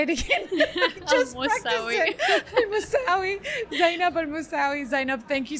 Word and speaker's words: Al-Mousawi: Al-Mousawi.